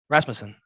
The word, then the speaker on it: Rasmussen: How do you say that last name? Rasmussen.